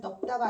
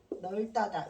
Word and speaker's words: 넓다: 얘는 넓다가 아니라 널다다. 이유는 딱 하나야.